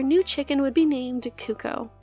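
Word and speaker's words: Cucco: Taking inspiration from Zelda, our new chicken would be named Kuko. I have heard some people pronounce that cuckoo, so disregard my personal pronunciation if that's you.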